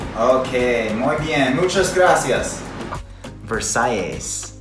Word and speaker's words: Versailles: How do you pronounce the name of your restaurant? Okay, muy bien, muchas gracias. Versailles.